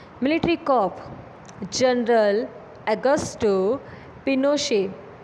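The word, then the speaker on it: Pinochet: Military corp general Augusto पिनोशे, pronounced पिनोशे, and army general lead the corp.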